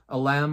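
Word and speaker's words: Ylem: It's spelled Y-L-E-M. Alem, I think is how it's pronounced.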